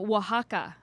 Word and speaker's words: Oaxaca: 100 single origin coffees no bs blends from oaxaca are you impressed that i knew how to pronounce that yeah that's yeah that's right that's